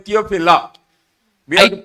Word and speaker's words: Theophilus: We write it as Theophilus, but we have to say only Theophila.